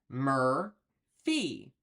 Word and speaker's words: Murphy: So for the word Murphy, we're going to cue it as 5M for mur, and then fee. Mur-fee. So that's going to look like this. Murphy.